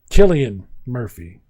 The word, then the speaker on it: Cillian: It has the guy with the name that I mispronounced for years, Cillian Murphy.